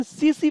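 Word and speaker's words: tsetse: तो याद कर लीजिए, सैंड फ्लाई या फिर सीसी फ्लाई, इसमें भी टी साइलेंट है, तो सीसी फ्लाई या सैंड फ्लाई, इसके द्वारा ये ट्रांसमिट किया जाता है।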